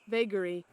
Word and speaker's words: vagary: word is that oh it is it is pronounced bakery vagary oh interesting vagary i don't know if that's